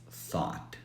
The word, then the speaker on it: thought: tense of think so let's eliminate the ugh sound which leaves us with thought and that's how we say it thought it rhymes with Bond and Bot is another